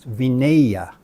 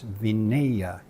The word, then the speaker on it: Vinaya: So once again, where there is a short A, for some reason people think that it has to be a long A, and it comes out as Vinaya. It is actually Vinaya.